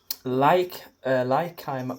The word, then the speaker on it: Leikeim: You can better pronounce it because you were from it. Leikeim Brauschätze.